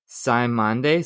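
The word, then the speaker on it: Cymande: And there's this there's this um band this they're I think it's pronounced Simande C Y M A N D E from 1972 and it's like I don't even know how to describe it.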